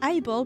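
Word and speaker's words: AI-Ball: And her name is AI Ball because it's an eyeball. So, you pronounce it eyeball.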